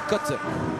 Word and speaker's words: Qatar: Is it going to be Qatar? It's going to be interesting. By the way, thanks to Kyle Montgomery, I learned the actual right pronunciation ofQatar. I I'm used to say Qatar cuz that's how we say it on my